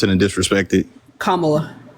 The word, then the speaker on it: Kamala: her name one more time so I don't pronounce it and disrespect it Kamala kamla Kamala Okay cool so and I just I